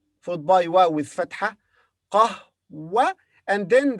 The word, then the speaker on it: قهوة: قهوة. And then the ta marbuta here is pronounced as ha because it comes at the end and we stop. So we say قهوة, قهوة, قهوة, coffee.